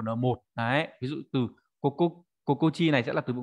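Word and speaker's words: 心地: Đọc là kokochi nhá. Rất tiếc là nó không phải là kokoro ji hay là kokorochi mà lại biến âm đặc biệt là kokochi, được chưa?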